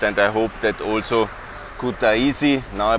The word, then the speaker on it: Kutaisi: And I hope that also Kutaisi, now I pronounce it correctly, will be on the streets